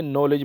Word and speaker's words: knee: कनॉलेज नहीं बोलना बल्कि नॉलेज बोलना है। इसी तरह एक और फेमस वर्ड है नी, KNEE, किसको कनी नहीं बोलना बल्कि नी बोलना है।